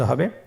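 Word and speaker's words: حاء: হা হরফটি কিভাবে উচ্চারিত হবে? হা হরফটি উচ্চারিত হবে কন্ঠনারীর মধ্যখান হতে। গলা চিপে ধরে আপনি উচ্চারণ করুন।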